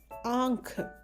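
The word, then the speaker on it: आँख: So we use this forceful sound kh. So the word is pronounced as ankh.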